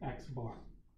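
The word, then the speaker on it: x̄: X with a bar over top this is pronounced X bar okay so that's the sample mean there's our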